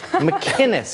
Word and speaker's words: McInnes: McInnes, it's a hard C.